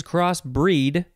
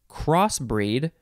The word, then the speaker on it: crossbreed: noun next it is cross breed one word this is our last word and we have two forms so the first form uh let's see you can say you can emphasize either syllable crossbreed or cross breed verb